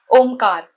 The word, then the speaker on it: Omkar: Kar, with sharp K with the long Hindi vowel A, Ka, followed by the soft Spanish R, Kar. So it becomes Omkar.